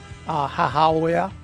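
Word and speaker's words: 母親: That's how we pronounced it. Hahaoya.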